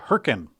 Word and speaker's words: Hurricane: I was proposing EV charging in a place called Herkin, Utah, and they spell it exactly the same as hurricane.